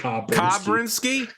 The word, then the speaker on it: Kabrinski: I'm trying to figure out how he pronounced Kabrinski. Kabrinski? Oh yeah, it's definitely Kabrinski.